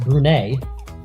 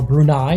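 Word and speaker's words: Brunei: and now Afghanistan against brune or brunai depending on how you want to pronounce it but here on Marvel Cubo we're going to pronounce it brune they're in the yellow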